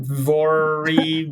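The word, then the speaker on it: Vuori: you got coupons and how do you pronounce viori Brit vori what was your when you guys were just talking I went on mute and I looked it up it's VOR you guys are terrible French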